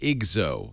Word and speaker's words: IGZO: And it's pronounced IGZO. Is that right?